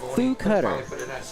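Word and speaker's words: Fu Cutter: No, that's Foo Cutter. It's spelled F-U Cutter.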